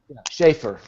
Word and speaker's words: Schaefer: so uh Sheffer is it Sheffer this is how you say schaer schaer um is among the